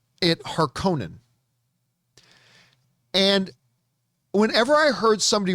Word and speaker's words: Harkonnen: despite seeing the original movie i have always pronounced it harkonnen and whenever i heard somebody refer to the